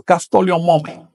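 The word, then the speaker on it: caxtolli omome: ¿Cómo se pronunciaría 17? A ver, 17, ¿cómo lo pronuncias? Gracias. Castoli o Mome. Es sencillo, no hay que tenerle miedo. Castoli o Mome.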